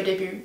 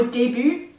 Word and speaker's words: début: Et il y avait d'autres choses, par exemple, il y a le son U, la différence entre OU et U. Genre le mot début, je disais toujours début. Aussi le mot montagne, j'ai prononcé montagne.